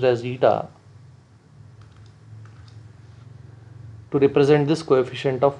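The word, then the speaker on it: η: Coefficient of viscosity, and I will use this symbol eta, pronounced as eta, to represent this coefficient of viscosity.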